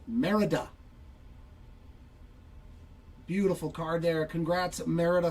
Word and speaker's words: Merida: So nice low-numbered auto for Merida. Why do I always say her name that? It's Merida.